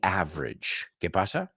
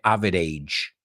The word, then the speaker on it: average: same as saying the average because I always hear people say Avid age you know it's average it's average what is the mean